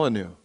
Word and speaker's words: Molyneux: couple things about Stefan maleno is how you pronounced your last name give me it your way Mal malanu so good Dana um I